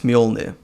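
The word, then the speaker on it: Mjölnir: Oh, Kira, if you can ever pronounce Thor's hammer right, it's Mjolnir.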